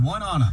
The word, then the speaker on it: Oneonta: It's, and actually it's Oneonta, but yes, no matter how you say it, All American Ford in Oneonta is the place to buy your next vehicle.